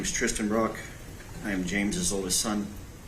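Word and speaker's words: Trysten Brock: Let's start with your name and then spell it for me. Okay. Yes, sir. My name is Tristan Brock.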